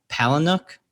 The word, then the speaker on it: Palahniuk: And am I pronouncing his name right? Chuck Palahniuk?